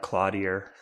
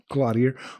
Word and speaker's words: Cloutier: He said just not Cloudier. Cloutier or Cloutier. Cloutier. Go off French.